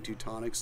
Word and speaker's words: Teutonic: And it rhymes with chronic, so. Oh, my God. That's, sorry. So, yeah, our rosé, people would thought it smelled like cannabis, and so they started saying Teutonic's the chronic.